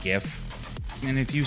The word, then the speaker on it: GIF: it into a gif don't say anyth it's pronounced gif and if you say jif i don't whatever the game will give you